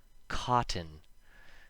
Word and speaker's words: cotton: When the letter T appears before an N, and they are separated by a short I sound, so the vowel, not always an I, and N together rhyme with in, the T makes no sound when we speak fast.